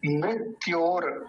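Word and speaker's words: मृत्योर्: है इसका तो बंधना मृत्योर मृत्योर देखिए मृत्योर मृत्य ये जो र है ना ऊपर वाला ये पहले बोला जाएगा मृत्योर और मुक्षीय मुक्षीय देखि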